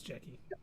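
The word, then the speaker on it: Jecki: OSHA and Daphne Keane's character Jackie or I think that's how it's pronounced. Yeah, it's Jackie.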